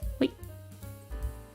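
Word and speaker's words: 和: Pronounced as wa.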